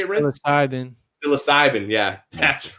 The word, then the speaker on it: psilocybin: Great Baptist says Cycloban. Yes, I hate saying that. I don't know. I probably didn't even say it right. How you say it? How you say it, Rinth? psilocybin.